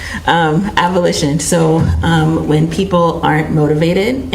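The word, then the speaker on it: avolition: Is avulsion, is that a negative symptom of schizophrenia? Say that again? Avulsion? Maybe I'm pronouncing it wrong. A-V-O-L-I-T-I-O-N? Oh, got it. Abolition.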